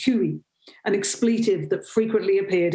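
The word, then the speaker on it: хуй: word dick which is uh in russian it's pronounced huey an expletive that frequently appeared in graffiti and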